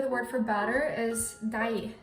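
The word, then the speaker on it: deig: Oh, I should tell you the word for batter is dai. It's kind of like daiomai, like the word for you, but it's spelled differently. When I say jeg liker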